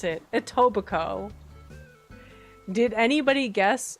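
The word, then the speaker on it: Etobicoke: So that's how you pronounce it. Ittoico. Did anybody guess Ittobico?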